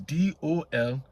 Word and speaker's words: Dolphyne: Abena Dolphyne is Dolphine.